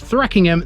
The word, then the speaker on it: Threekingham: legend associated with it sometimes pronounced thre kingham this one has confused